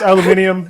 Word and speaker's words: aluminium: That, and why do you pronounce aluminum weird? I guess maybe we announce it. Maybe we say it weird. I know it's aluminium.